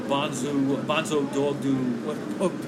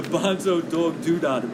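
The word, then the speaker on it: Bonzo Dog Doo-Dah Band: Now, Lauder was responsible for signing on United Artists Records the Bonzo Dog Doo. I said it wrong. The Bonzo Dog Doodah band, okay, and also Can and Hawkwind, early band Lemmy.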